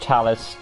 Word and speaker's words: Talis: it's like her appearance it's pronounced talus t-a-l-i-s so if anybody who